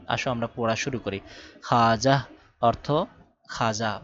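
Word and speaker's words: خواجہ: দেখো এখানে খাজা ওয়াও কিন্তু পড়ে গেছে ওর উচ্চারণ হয় নাই খাওয়াজাহ এভাবে পড়ি নাই খাজা পড়েছি খাজা অর্থ সম্মানী ব্যক্তি তারপরে খাওয়াব পড়ি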